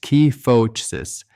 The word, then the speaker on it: kyphosis: The medical world calls it kyphosis, pronounced key-foh-sis, and it simply means an excessive forward curvature of the upper spine, that thoracic region between your shoulder blades.